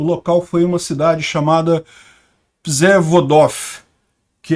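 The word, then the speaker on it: Przewodów: Mas, segundo dizem, é Przewodow que se pronuncia isso daqui.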